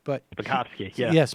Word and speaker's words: Spakovsky: Hans V spasi uh SP uh I can't pronounce his name but spakovsky yeah yes spakovsky he was I I remember testifying quite a